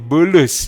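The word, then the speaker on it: بولس: dalam bahasa Indonesia Paulus kalau dalam bahasa Arab Bulus ya Arab tidak bisa ngomong P jadi semua B jadi Bulus ya Ini bukan akal bulus tapi nama Paulus dalam bahasa Arab itu memang Bulus Nah jadi kalau saulus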